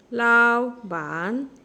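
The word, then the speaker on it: 老板: এখানে দুইটা টোন একই, ফলিং এবং রাইজিং। একটা ওয়ার্ডে পরপর দুইটা ফলিং এবং রাইজিং টোন যদি থাকে, তাহলে প্রথম ফলিং এবং রাইজিং টোনটা উচ্চারণের সময় রাইজিং টোন উচ্চারণ হবে, কিন্তু লেখার ক্ষেত্রে একই থেকে যাবে, ফলিং এবং রাইজিং থেকে যাবে। শুধু এইটুকু মনে রাখলে হবে। তাহলে এটা রাইজিং টোন হবে লাও বান, লাও বান, লাওবান।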